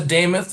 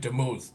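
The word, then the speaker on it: Demuth: Lisa Damoth. It's spelled D E M U T H. Looks like Duth, but it's Damoth like Nameoth for all of you Dale Carnegie grads.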